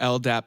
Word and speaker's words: LDAP: We'll focus on the settings you need for a secure LDAP (pronounced el-dap) setup.